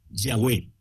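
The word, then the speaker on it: Yahweh: Nuestra pronunciación de este nombre, pues por lógica es Yahweé, que es una de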